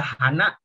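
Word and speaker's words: 花: Terus di sini ada hana.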